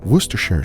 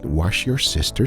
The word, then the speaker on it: Worcestershire: here's today's special ingredient werer sauce a lot of people have trouble pronouncing ing it but the easiest way to remember is to call it wash your sister sauce oh yes but nevertheless